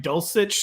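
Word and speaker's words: Dulcich: or not you're getting greg dulcetch is that how you say his name crane that's how you say it the broncos rookie tight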